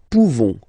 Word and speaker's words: pouvons: Okay, nous pouvons. Nous pouvons. Okay, you don't pronounce the final S.